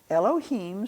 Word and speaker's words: Elohim: Elohim starts with an Aleph, and it's pronounced here as an elo, lo, him.